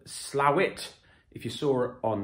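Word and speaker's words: Slaithwaite: west yorkshire not far from a town called slowit if you saw it on the map you might say slave weight if you didn't know uh different but apparently it is pronounced slavic which is used to me as a reader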